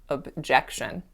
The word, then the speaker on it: objection: word objection objection so instead of saying it like that I stressed that first letter oh and I need the word objection but it should be objection and then the last